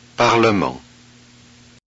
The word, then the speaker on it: parlement: Okay, look, in the following words, the vowel E is pronounced. Look and listen. Fermement. Calmement. Parlement.